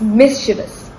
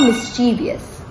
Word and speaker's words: mischievous: all right last one how do you say mischievous it's mischievous not mischievous so many syllables added for no reason correcting a pronunciation might